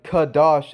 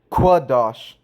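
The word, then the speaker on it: קדש: So when we are writing kadash and using kaf, the sound of kaf for kwa, which is quaf, it should really be pronounced quadash.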